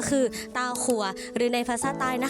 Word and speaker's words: เต้าคั่ว: ทุก คน ได้ รู้ จัก นั่น ก็ คือ ตา ครัว หรือ ใน ภาษา ใต้ นะ คะ ค่ะ จะ ออก เสียง ว่า เ้า ครัว หลาย คน นี้ อาจ จะ เคย ได้ ยิน